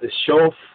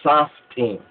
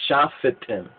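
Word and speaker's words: שופטים: They pronounce it as shof, in that sense. But more correctly, it should be sa, saf. It should have been saftim, or shafetim.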